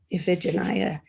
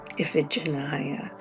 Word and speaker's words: Iphigenia: To say her name in modern Greek, I have to breathe. Iphigenia. It is a lyrical name, a musical name. Iphigenia.